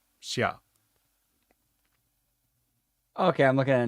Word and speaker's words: Xia: but are they going to still call her Zia or they going to let her pronounce her name the way it's actually pronounced because that is her real first name Shia okay I'm looking at it now xiaa or